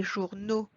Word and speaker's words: journaux: Again here, we do not pronounce the letter X at the end. It sounds more like O. Des journaux, des chevaux, des animaux.